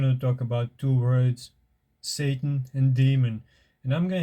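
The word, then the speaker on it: שָׂטָן: In the original Hebrew, the word is pronounced Satan.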